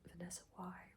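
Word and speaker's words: Vanessa Wye: So let's just read the Vanessa Y, I believe her name is pronounced Vanessa Y, was 15 years old when she had first had sex with her English teacher.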